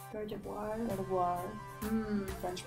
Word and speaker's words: Gardevoir: It is called Gardevoir. Gardevoir? Gardevoir. Hmm. French pronunciation.